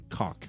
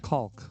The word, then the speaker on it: caulk: cock. Caulk.